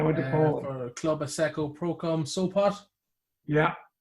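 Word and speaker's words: Asseco Prokom Sopot: For Club Asseco Procom Sopot. Yeah. How did I do that with that It pronunciation?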